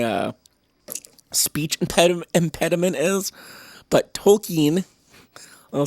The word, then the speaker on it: Tolkien: like people who love token tolkien i should say i'm not even saying it right i just say token i say it wrong all the time but i